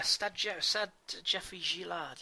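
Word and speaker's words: Stade Geoffroy-Guichard: Yeah, Stade Geoffroy Guichard, yes, indeed.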